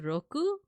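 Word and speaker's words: ろく: is usually pronounced as Roku like U like Avatar Roku or your Roku for your TV but it can also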